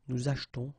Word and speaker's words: achetons: After that, nous achetons, vous achetez. Remember this here is silent or mute.